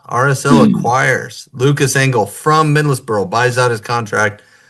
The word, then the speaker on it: Middlesbrough: All right, Lucas Engel, RSL acquires Lucas Engel from Middlesbrough, buys out his contract. I know, I say Middlesbrough. How do you say it like a real Anglophile? Middlesbrough. Middlesbrough. Middlesbrough. It's the Middlesbrough. Okay, got it.